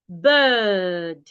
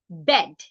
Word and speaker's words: bird: pronunciation B British pronunciation un likee the Nigerian pronunciation that we say bed b d is bed b d should never be be pronounced as bed you either say bird or bird so this time watch